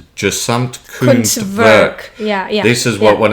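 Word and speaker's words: Gesamtkunstwerk: Yes, I've been trying to work on the pronunciation, so it's gesamt Kunstwerk.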